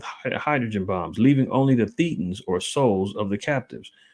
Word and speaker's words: thetan: special Revelation from hubber humans are really thetans or pronounced thetans or Immortal Spirits this term comes from the Greek letter Theta or Theta here you